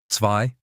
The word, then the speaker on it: zwei: Z is not Z, it's TS. Zwei, two.